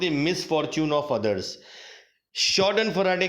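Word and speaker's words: Schadenfreude: दूसरा शब्द आपके सामने जो आया है वो एक बहुत ही यूनिक शब्द मुझे मिला, जिसको प्रोनाउंस करते हैं शॉर्डन फराडे।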